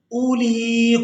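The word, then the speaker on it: أولي: हमज़ा के बाद वाली जो वाव है ये साइलेंट ही रहेगी, इसको हमने अदा नहीं करना।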